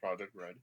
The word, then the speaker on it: Project R3D: yes um so i run project r3d uh pronounced project red but uh i make 3d printers and that's